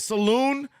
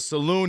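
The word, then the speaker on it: Salaün: Charlotte Hornets rookie T I cannot Saloon like like a saloon back in the day like a bar I hope I'm saying his name right but but Saloon hits a big three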